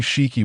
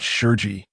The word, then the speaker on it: Shiki: However, the only thing Shiki was dissatisfied with was that this brat actually got his name wrong. On the Golden Lion, Shiki, not Sheri, bastard, go to hell like Roger.